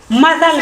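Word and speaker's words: muscle: एस सी एल इ मसल कैसे लिखी एम यू एस सी एल इ ठीक है सी लिखन साइलेंट है एस के बाद अगर सी आए तो सी का है साइलेंट साइलेंट अब देखो मेन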